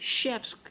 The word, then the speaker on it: chef: meal will make french chefs happy okay so a cook okay or you can call it as a shift it's a french word okay so ch is pronounced like sh so chef okay uh so yeah